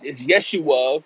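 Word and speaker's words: Jeshua: That's how you spell Yeshua, or, you know, they say that J is silent. It's really, it's Yeshua, quote unquote, but it's J-E-S-U-A.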